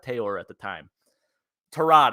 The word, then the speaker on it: Tyrod: 26th our quarterback was tyrod taylor at the time tarad i should say that's how you actually pronounce his name according to uh hard knocks but anyways we've lost